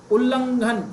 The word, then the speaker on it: उल्लंघन: हाँ, इसको clearly pronunciate करने की टेक्निक बता देता हूँ आज। उल्लू तो सुना होगा आपने। उल्लू, उल्लू। उल्लू से बना है, उल्लू बोलना सीख लो पहले। उल्लू से ऊ हटा दो और इसको क्या बोलेंगे, उल्ल।